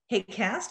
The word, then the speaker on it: HAQAST: health and air quality applied sciences team we pronounce it hate cast kind of like outcast and this is a